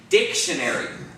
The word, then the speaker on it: dictionary: Or if I was to say dictionary, where is the accent in the word dictionary? The first syllable, right? Dictionary.